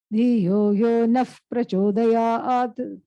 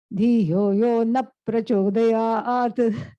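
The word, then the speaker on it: Dhiyo yo naḥ prachodayat: converts that into an F sound. Dhiyo yo naf prachodayat. But frequently, since people don't know this, they say Dhiyo yo na prachodayat, which means please do not stimulate my intellect.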